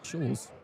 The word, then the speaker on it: Scholes: In case that 777 that went above us earlier needed to know that I mispronounced uh Nicholas's last name, it's not Sulk. It's Scholes.